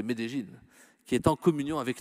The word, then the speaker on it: Medellín: Églises, sans oublier l'archevêque de Medellín, il faut prononcer Medellín, qui est en communion avec nous.